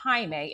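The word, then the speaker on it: Jaime: When they decided to call contact Himeme, it smelt spelled like Jamie.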